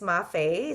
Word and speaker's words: Mafae: It's Mafe. So the E can be pronounced as a Y.